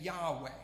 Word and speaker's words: Yahweh: to say it so this is this name Yahweh yeah we that's how we believe is supposed to be pronounced and you see that name obviously translated